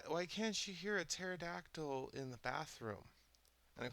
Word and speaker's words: pterodactyl: can't she hear a pterodactyl in the bathroom and of course I've heard this joke a thousand times you know it's because the p is silent and everybody laughs but